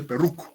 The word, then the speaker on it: Perroux: Y se escribe Perroux, como P-R-R-O-U-X, Perroux, ¿ya? Entonces se escribe Perroux, se pronuncia Perruc, ¿ya?